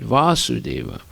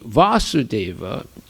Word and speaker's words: Vasudeva: Okay, so whenever you see Vasudeva, it can be with a long A or a short A. When it has a short A, it refers to Krishna's father, but it can refer